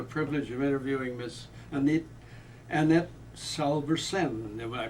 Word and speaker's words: Salvesen: And today we have the honor and the privilege of interviewing Miss Annette Salvesen. Did I pronounce that correctly? Salvesen, yes.